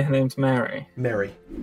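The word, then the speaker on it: Merry: Mary. M-E-R-R-Y. Oh, Mary. Yeah, Okay. like the Hobbit.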